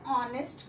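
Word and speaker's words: honest: कि एन ऑनेस्ट girl, इसमें जो ऑनेस्ट है वो स्टार्ट तो एच से हो रहा है जो कि एक कॉन्सोनेंट है, पर जब हम इसको प्रोनाउंस करते हैं तो ऑनेस्ट ओ का साउंड आ रहा है जो कि एक वॉवल है, इसलिए इसके आगे हम एन लगाते हैं।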